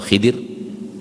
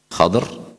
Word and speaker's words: Khidr: Nabi Musa alaihissalam dan Nabi Khidr atau Khidir, ada yang membacanya fathah, ada yang membacanya kasrah. Khadr atau Khidr, dua-duanya datang dalam riwayat.